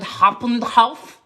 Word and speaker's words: Hauptbahnhof: And our time was getting close because we had to take a train from the Frankfurt Hauptbahnhof.